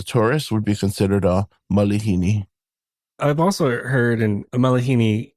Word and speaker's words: malihini: Yeah, so that's a common, I don't want to say mispronunciation, but yeah, a lot of people think there's an actual A after the L, but it's an I, so it's going to be malihini.